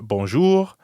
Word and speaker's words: bonjour: And we practiced the French R at the end of bonjour, bonsoir, revoir, At the beginning of revoir, too. and the je sound in bonjour, je, jour.